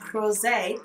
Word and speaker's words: Rosé: You just have to say it like that, Rosé.